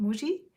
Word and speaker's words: Muji: it's so funny so Japanese people pronounce it differently you know we call it Muji I'm sure you've heard